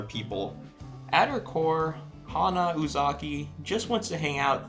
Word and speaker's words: Uzaki: next up we have hana uzaki said it right that time i said uzaki not uzuki uzaki anyway hana comes